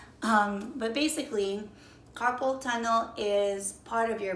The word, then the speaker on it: carpal: So when people say carpal tunnel, a lot of people pronounce it as carpool tunnel. But basically, carpal tunnel is part of your body.